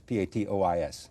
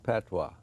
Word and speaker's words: patois: No, I skipped, how do I pronounce this? P-A-T-O-I-S. Patois.